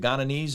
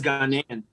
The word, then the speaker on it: Ghanaian: Is it Ghananese or? I think it's Ghanaian.